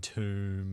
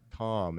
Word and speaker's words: tomb: So he writes bomb. He's like, "How do you pronounce this?" And he goes, "bomb." And he's like, "Yeah." And then he wipes away the first b and puts a t and he's like, "How do you pronounce this?" He's like, "calm." And he's like, "No." No. "Why would you think that? It's obviously tomb."